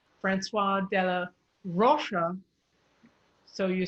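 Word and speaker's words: François: is the first thing anytime you see an ois it becomes a w okay so that's francois francois yeah francois so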